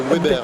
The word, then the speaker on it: Weber: C'est à la belge, hein, c'est Weber à la belge.